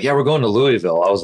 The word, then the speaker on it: Louisville: Louisville. Kentucky. And it was on her phone. He's like, yeah, we're going to Louisville.